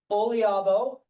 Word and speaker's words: Oliabo: I think that's all the time we've got right now for questions, but again, Olabo, that's how you pronounce it.